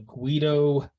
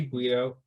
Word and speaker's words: Greedo: Did I say Guido? It's Greedo? You did. It's all right, whatever. Greedo with an R.